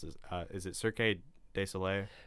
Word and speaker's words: Cirque du Soleil: Is it Cirque du Soleil? Cirque du Soleil. Thank you. I can never pronounce that What?